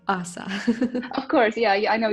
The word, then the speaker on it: Ása: Yeah, Ausa is fine, so hopefully that should be understandable to the listeners.